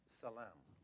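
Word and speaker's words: צלם: That phrase, "in His image," is a Hebrew word pronounced salam.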